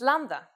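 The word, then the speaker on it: λάμδα: It's lambda, the Greek version of L, and it sounds pretty much like the English L.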